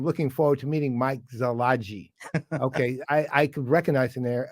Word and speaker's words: Szilagyi: Now, that said, I think the pronunciation, because there's some silence in here, is Szilagyi or it's Szilagyi. Like that. So in other words, the S isn't really pronounced. I'm not seeing any proof of that being correct. And then the Y isn't really heavily pronounced.